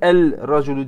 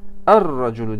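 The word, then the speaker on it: الرجل: Bunu niye el-raculu diye okumuyorum? Çünkü bu harfi şemsiyedir ra. Er-raculu diye okunur.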